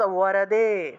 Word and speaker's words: বরদে: এখানে যতগুলা ব পাইতেছেন সবগুলা ব হলো অন্তস্থ ব, আর এগুলার উচ্চারণ ওয়া হিসাবে হবে, ওয়া। এখানে যে বগুলো আপনারা দেখতেছেন না, এই সবগুলা ব হলো অন্তস্থ ব, এগুলাকে ওয়া হিসেবে উচ্চারণ করবেন, ওয়া, অর্থাৎ ওয়ারদে, বিধাত্রী, বিধ্বংসী, এইরকম।